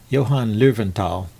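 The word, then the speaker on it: Löwenthal: Johann Lowenthal, probably it's how it's pronounced.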